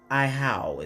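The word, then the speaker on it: Ahau: Iowa. I'm not sure if I said that right. I'm going to figure it out, though. 19. Right on it. Okay. Ihau is how it's pronounced.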